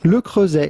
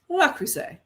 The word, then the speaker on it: Le Creuset: The T at the end of Creuset is definitely silent. Le Creuset is how it would be said in France.